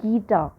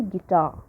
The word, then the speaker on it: guitar: loud in a word for example gita ghee is a weak syllable ta is pronounced louder than ghee right we never see gita we always say guitar so ghee is weak or unstressed whereas ta is louder so weak syllable is